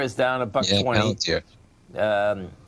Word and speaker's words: Palantir: You got Palantir is down $1.20. Palantir. How do you pronounce it again?